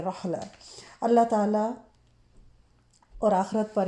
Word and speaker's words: رعلہ: अल सलाम अल्लाह ताला इनको रहला भी बोलते हैं जैसे अरेबिक में होते है ना आखिर पे ता के ऊपर गोल ता के ऊपर दो नुक्त तो वो साइलेंट भी बोलते हैं तो आईन के साथ है रहला अल्लाह ताला और आखिरत